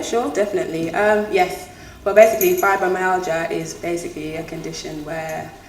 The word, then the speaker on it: fibromyalgia: I can never pronounce this right. So it's called fibromyalgia. Fibromyalgia. Yes. It's spelled G-I-A, so sometimes I'm like fibromyalgia.